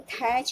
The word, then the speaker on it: thatch: In thatch, you see T is silent.